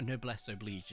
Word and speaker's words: noblesse oblige: A noblesse oblige is how it's said, although it's spelled oblige.